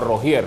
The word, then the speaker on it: Rougier: más Valles invictas es Jonathan Ruger o rogier como dijo él que se pronuncia su apedido tiene las